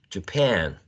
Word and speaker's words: Japan: neutral jay-j and then we have the second syllable stressed right pan we have a trap here Japan Japan right Japan and number six J after